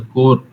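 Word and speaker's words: corps: It's a core. Core means a branch of army, and we spell it as CORP.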